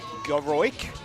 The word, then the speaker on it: Goroik: I think I've been saying Kaylee's last name wrong the entire name. Goroik. There is an O in there that I kept missing. I do apologise.